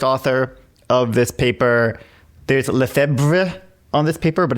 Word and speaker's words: Lefebvre: So Lefebvre is how I hear people pronounce it. Nobody knows how the family pronounces it.